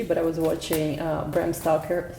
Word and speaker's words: Stoker: I was watching Bram Stoker, how do you say Bram, not Stalkers, Bram Stoker's Dracula yesterday.